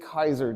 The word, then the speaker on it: Caesar: is because of what a guy named Gas Julius Kaiser did you guys incorrectly called call him Julius Caesar Caesar I'm going to